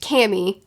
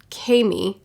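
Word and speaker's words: Camie: what's happening so instead we meet cammy no kami i called her cammy the whole time i was reading but now that i'm looking at this pronunciation guide i'm wrong so we meet kami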